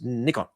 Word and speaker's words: Nikon: that I've been given, tell me how do you pronounce Nickon? He says Nikon. It's Nippon. Nippon is is Japan and that is the way you pronounce it.